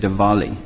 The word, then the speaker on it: Diwali: I learned it's enunciated Diwali. Even though it's spelled with a W, so that's one thing I learned.